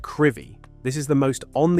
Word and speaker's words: Crovie: Crovie, Aberdeenshire. Pronounced Crivie, this is the most on the edge village in Britain.